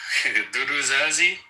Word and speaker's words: Dudu Zazi: How do you pronounce that name? That's Dudu Zazi.